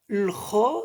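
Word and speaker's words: خ: Le kha, ça sort de la gorge. Kha, on gratte un petit peu sur le kha.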